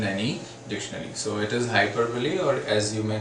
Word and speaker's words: hyperbole: is exaggeration or hyperbole yes the word is pronounced is hyperbole not hyperbole because you really might have heard people speaking